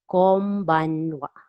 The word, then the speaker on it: konbanwa: So N here in after ko is pronounced as M. Konbanwa.